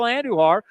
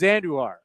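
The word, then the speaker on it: Andújar: They're both Spanish-speaking players, and he says his name is Andujar. It was funny because every other guy whose name's spelled like that is Andujar. No one else is pronounced Andujar. Whenever he said Andujar, whenever he was in the press conference, I looked at Chris and because he was listening, I said, "Hey, Andujar, not Andujar."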